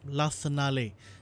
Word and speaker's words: l'Arsenale: Yep, l'Arsenale. It appears that I've been pronouncing it as Silvio Arsenal.